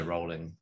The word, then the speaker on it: Rowling: secrets by jk rowling rowlet she's british i figured you would have known how to pronounce that one i'd say rolling i saw what i say rolling yeah yeah um i